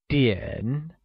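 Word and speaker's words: 点: vocabulary for the same the measure word for time is tien and it is pronounced using a falling rising tone like diane great clock translates to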